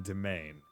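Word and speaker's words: demesne: Like, if you asked me to pronounce that word, I would never have gone domain. I would have said, like, Desmony.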